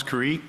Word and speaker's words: Carrique: the record please State your full name and spell it out Creek t-h-o-m-a-s-c-a-r-r-i-q-u-e do you swear that the evidence to